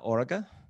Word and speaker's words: Oarga: And Anna Oarga?